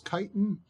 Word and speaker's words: chitin: it I think it's I've been told it's chitin but it looks like it's spelled chit Mimi so potato potato tomato tomato